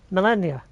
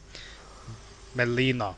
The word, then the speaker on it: Melina: Melennia. They said it in a way sound like Melania. Melennia. Melina, that's her name.